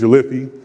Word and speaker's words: Jolliffi: It often gets mispronounced, but it's Jolliffi.